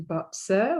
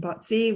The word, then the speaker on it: Bazi: glad that you're here and you're interested in boxer which is how you pronounce it but sir rather than batsy which a lot of us do when we